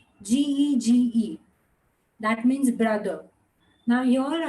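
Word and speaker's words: 哥: G, G, flat tone. G, G. Again, G, G. It's going flat. Ge.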